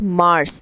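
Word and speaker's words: mars: वी से इट एस मार्स। So just like planet मार्स you just say इट the same way there is no difference even the spellings are same.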